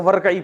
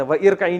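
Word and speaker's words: وَارْكَعِي: पढ़ते हैं ना तो वरई पढ़ते थे व इरकाई नहीं पढ़ते यह तजवीद का कायदा है कि अब मिला के जब पढ़ते हैं तो यह अलिफ को साइलेंट कर देते हैं।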